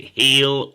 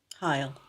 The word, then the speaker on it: Heil: How would you pronounce Bob Heil? Is it Heel or Heil? Heil. Heel or Heil, all right? Heel or Heil. Because the real answer, as you're typing that, is Heil.